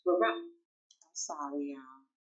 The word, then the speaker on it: Laroche: Oftentimes people think it's LaRouche, but it sounds like posh. Laroche.